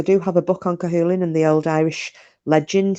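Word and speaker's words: Cú Chulainn: seen the name it's spelled it looks like culture Lan but is it's actually pronounced cahin but it looks like culture Lan and he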